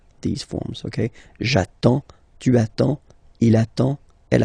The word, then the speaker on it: j'attends: Okay, you get D and S. Well, basically you don't pronounce them. Okay, and then you get only the sound attends. Nasal here, en, j'attends.